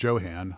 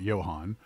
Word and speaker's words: Jo-Han: Johann, and my sources are adamant that it is pronounced Johann, not Johann, was a plastics injection molding company that was started by the late John Haenle in 1947 outside of Detroit, Michigan.